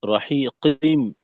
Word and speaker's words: رحيق: জি, এই রাহিকিম, কফে আরেকটু জোর দিতে হবে।